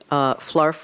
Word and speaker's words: flarf: Well, first I want to say flarf rhymes with scarf.